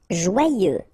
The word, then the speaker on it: joyeux: Joyeux. Final X not pronounced, and then joyeux. Okay? Joyeux.